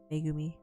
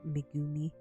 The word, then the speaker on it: Megumi: but yeah Mei megumi megumi that's how you say it not Mei uh Mega me uh